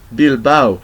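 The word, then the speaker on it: Bilbao: the next one is here we have ow okay ow so a and o gives give us the sound of ow and we find this in the the word of bilbow bilau bilau is a city in Spain um uh it's in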